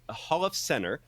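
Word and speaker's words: Holofcener: My Feelings written and directed by Nicole Holiffson Holofcenter. I think I'm pronouncing that correctly.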